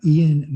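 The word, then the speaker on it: Iain: The first one is Ian Mcgilchrist. Ian is spelled I-A-I-N, 2 I's, Mcgilchrist.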